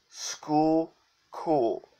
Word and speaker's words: Schuylkill: pronounce that word and quite frankly frankly Ted's pronounced Schuylkill River School cool pretty simple what's that a further dude this